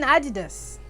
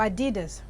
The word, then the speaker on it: Adidas: I mean, the moment you see 3 stripes on a trainers, you're thinking Adidas or Adidas, however you want to pronounce it, or you're thinking Nike.